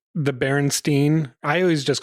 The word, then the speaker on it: Berenstain: It was Stein, but I called it Berenstein, so I was wrong to begin with. Well, but your pronunciation is Steen or Stein, same spelling. Right. But it's Berenstain, different spelling altogether.